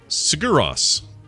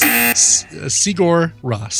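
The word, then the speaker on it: Sigur Rós: Yes. Siguros. No? You know, if there was no space and it was an American name, then I'd say yes. That's Sigur Ross.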